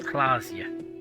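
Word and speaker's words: Klaasje: Revachol is pronounced Revachol, Orania is pronounced Orania, Klasia is pronounced Klasia.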